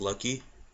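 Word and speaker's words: Laki: the house so um his name is lucky it's spelled l-a-k-i he got me with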